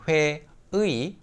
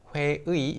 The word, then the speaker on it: 회의: me, 회의 is, again, 회의. 회의 is the original pronunciation, but people just say 회의.